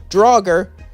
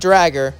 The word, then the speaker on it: Draugr: And I know it's pronounced Draugr, not Dragger, so please don't correct me in the comments below.